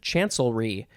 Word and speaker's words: chancellery: The last word is chancellery. There's celery. Chancellery.